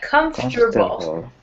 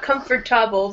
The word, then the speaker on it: comfortable: This comfortable is this part here is you don't say that too much. It's kind of like, I will type this out in chat. Comfortable. Comfortable. Comfortable. Comfortable. Comfortable. Oh, sorry, typo. Don't look at that one. Comfortable. It's like that. Comfortable. Yeah. Yeah, so not comfortable, but comfortable.